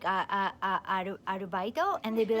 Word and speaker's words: アルバイト: So for instance, there's a word in Japanese called arubaito.